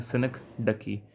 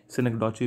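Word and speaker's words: synecdoche: जी दोस्तों इसके correct pronunciation है सिनेक्डकी। सिनेक्डॉची भी बोल देते हैं बहुत से, कोई फ़र्क नहीं पड़ता उससे, हमें तो पेपर में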